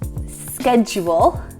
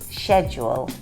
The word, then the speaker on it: schedule: US schedule. You had to think about that, didn't you? I really did. I really did. This is one that I could say both ways now. Exactly, me too. And the UK is schedule.